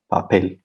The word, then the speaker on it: papel: this is correct because here we have a word that ends in l and the stress is on the last syllable so this is a regular word uh this uh follows the the rules and we don't need any stress mark here on on the e papel that's correct yeah cool